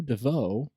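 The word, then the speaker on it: Deveaux: under the command of andrew devoe and that's spelled d-e-v-e-a-u-x so um a loyalist yeah kind of a french name interesting set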